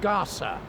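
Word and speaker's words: Gasa: north of Bhutan to a district called Gaza and in case you want to look that up on the Internet it's spelled g-a-s-a if you look up Gaza with a zed you'll end up in the Middle East which is not where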